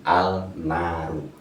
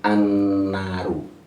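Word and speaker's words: النار: asli kata alnaru kalau mau mencari makna bacanya asli alnaru tapi karena kalau kalau mau mengucap itu langsung annaru karena Ini namanya Al takrifnya alsyamsiah atau Idgham Syamsiah berarti dua-duanya mengandung makna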